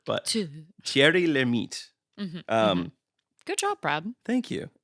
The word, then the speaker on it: Thierry Lhermitte: and apparently it's pronounced like this. Thierry Lhermitte. So Thierry. Yes. Although I feel like I always put a little like roll like I'm speaking Spanish on names with double R's. I feel like this pronouncer's also hitting the t syllable at the end a little hard, but Thierry Lhermitte.